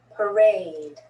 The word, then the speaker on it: parade: end angst thanks thanks parade parade parade another one where there are two a's each with a different sound the first one is a schwa and the second one is a diphthong hooray parade